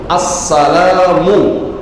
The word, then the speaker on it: আসসালামু: আসসালামু। শুরুতে হামজা উচ্চারণ হতে হবে ঠিক মত। মিমের উপরে পেশ এটাও ঠিকমত উচ্চারণ হতে হবে। ম্যাক্সিমাম ভাইদের এই হামজার উচ্চারণ হয় না।